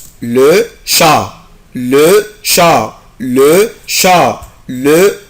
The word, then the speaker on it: chat: le chat, le chat, le chat, le chat. chat يعني قط. C H A T. je ne prononce pas la lettre T، مش بنطق حرف T.